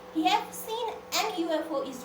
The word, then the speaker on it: UFO: Okay, UFO. So when we pronounce it, U, right? We pronounce Y. We don't pronounce U. We pronounce U, right? So this one pronounced as Y.